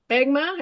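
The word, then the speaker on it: SPBGMA: and three I never get this right it's begma SP PB g m a pronounce that for me yeah we call it spig it's an acronym for the society for the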